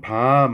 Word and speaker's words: 밤: 여기 보시면 밤 하고 길게 발음하는 놈도 알밤 하고 두 번째 글자에 들어가니까 짧게 발음을 해버리죠.